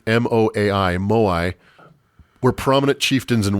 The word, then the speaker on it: moai: The statues, or moai, M-O-A-I, moai, were prominent chieftains and warriors and ancestors of the people.